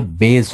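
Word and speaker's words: Bayes: দুই একবার থাকার কথা তো বোধহয় ছিল, নাকি বায়াস থিওরাম বলতা? বায়াস থিওরামই বলতাম মনে হয়। তোমরা বায়াস থিওরাম বলতা, উচ্চারণটা বোধহয় বেস হবে, বেস থিওরি হবে।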